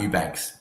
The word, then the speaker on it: Eubanks: Do you know how to pronounce that name there for me, Boz? Yeah, that's Eubanks. Yeah. Oh, Eubanks.